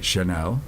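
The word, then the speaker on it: Kernell: And we've been talking to Amanda, and I'm going to say it correctly again, Chanel. Yes. That's fine. And you may repronounce it someday for the benefit of all of us here, wherever here is.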